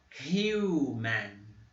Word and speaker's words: human: Human. Ó. Lembrando que o H aqui, quando ele está representado, tem som de R.